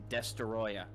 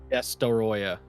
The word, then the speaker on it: Destoroyah: Hey, you gotta say it right. It's Destoroyah. Destoroyah.